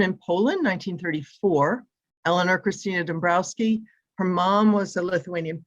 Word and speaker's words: Dąbrowski: This piece came Pilsudski, and it's Dąbrowski. Oh, okay, thank you. You're welcome. Dąbrowski. Did I get it? Close? Say it again. Dąbrowski. It's just Thank the you. W pronounced More like an F. like an Off. Okay. like Thank you. like a V.